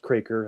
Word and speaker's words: Kroeker: It's K R O E K E R but it's pronounced Kraker. That's how we say it in Manitoba.